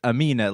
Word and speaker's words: Amine: It's Amine, like, you know what I mean?